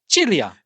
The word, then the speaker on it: Celia: Chileia, which is spelled C E I L or C E L I A. So, it's Celia. Yes. But it's Italian. So, it's Chileia.